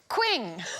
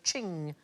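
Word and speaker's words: Qing: valuable vases ming yes queen well we will get there eventually it rhymes with bling thing thing i like thing most expensive chinese item ever sold at auction is a ching vaz it went for 43 million hands in 2010.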